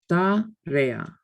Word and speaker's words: tarea: What happens when you have strong vowels together is that they form their own syllables and they carry their own weight. They're pronounced totally and completely separately. Whereas we would combine the sounds in English, they're not combined in Spanish.